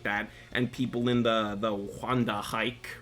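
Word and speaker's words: Wandenreich: But I believe it is pronounced Wanda hike.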